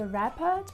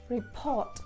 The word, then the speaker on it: report: And the mistake is usually with the stress. So my students often say report, but indeed it is report, report, report.